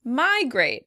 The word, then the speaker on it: migrate: Migrate. In British English, the word would be stressed on the second syllable. Migrate, migrate. In American English, the word is stressed on the first syllable.